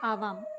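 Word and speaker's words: आवाम्: द्विवचन में आता है आवाम, मैंने म अनुस्वार के रूप में ऊपर लिख रखा है बच्चों, आवाम, है ना। तो इसका उच्चारण होगा आवाम, और इसका हिंदी अर्थ क्या होता है?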